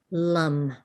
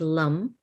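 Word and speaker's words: Lam: Earth is our foundation the seed sound that invokes the Earth is Lum and so it's l-a-m the a is sounds like an uh this is the Sanskrit a short a and so it's like Lum and what we're invoking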